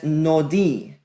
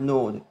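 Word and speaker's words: נאד: That aleph is silent in the word nod.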